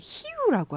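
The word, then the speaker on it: Rio: 근데 지금 말씀하실 때 히우라고 하셨어요. 아, 네네. 히우. 우리가 맞아요. 보통 이제 알고 있는 리우 네.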